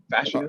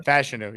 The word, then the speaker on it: Fashanu: his guy's name f how do you say it fashanu fashion fashanu yep yeah you put him